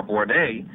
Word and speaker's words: Borne: The 1960s gave KTIB listeners a native-born broadcaster in Danny Borne, and while the pronunciation of his name is now Borne, his memories of the local news and sports scene remains very pronounced.